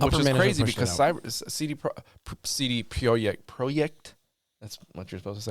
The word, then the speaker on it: Projekt: Upper management, and which is crazy because CD Projekt.